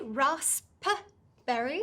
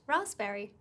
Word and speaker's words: raspberry: raspberry is silent there's no p sound so you don't say rasp berry right it's just raspberry okay got it okay